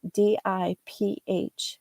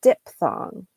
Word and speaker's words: diphthong: AY, that's called a diphthong, diphthong, diphthong. So the PH sounds like an F. But many people, again, like my oh constantly example, will say diphthong. They'll just take out that PH.